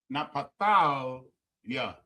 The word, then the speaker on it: Naphtali: Napatalia. Napatalia. Napatalia. Right? Is how you pronounce Naphtali.